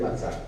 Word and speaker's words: matzah: Es matzah, pero lo pronunciamos matzó.